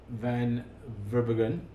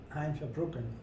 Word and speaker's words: Verbruggen: Now, so this is another guy, Van Verbruggen. Hein Verbruggen. Hein Verbruggen, sorry. I couldn't pronounce it properly.